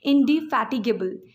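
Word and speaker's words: indefatigable: लिए शब्द क्या है, इंडिफैटिगेबल। इंडिफैटिगेबल शब्द है, यानी जो कभी थकते नहीं हैं, बहुत मेहनती, इंडिफैटिगेबल। इसका प्रोनाउंसिएशन ऐसे है, इन डी फैटिगेबल, फैट वाला फैटी, इन डी फैटिगेबल।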